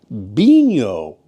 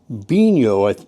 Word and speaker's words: Binho: Yeah, this is my new beo. I'm pretty sure that's how it's pronounced.